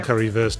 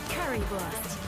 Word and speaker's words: Currywurst: I got a Curryverse drops. Currywurst. Sorry, I just laughed by the way she pronounced Curryverse there.